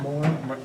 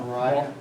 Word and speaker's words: Mora: Mount Mora. Mount Mora. Yeah, that's Mount what I was What's it thinking. called? Mount? Mount, Mora. Moriah.